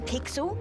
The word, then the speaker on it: Pixel: not weird guy i'm pixel it's easy to remember because it rhymes with pickle so it does i'm